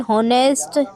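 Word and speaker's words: honest: एन होनेस्ट मैन H silent N here H silent N एम a student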